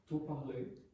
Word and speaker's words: parles: What totally disappeared? Yes. The S.